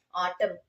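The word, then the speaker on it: autumn: ஆட்டம் ஆட்டம் காலம்னு சொல்லும்போது அங்க என்ன ோட சத்தம் நமக்கு கே்கறதே கிடையாது.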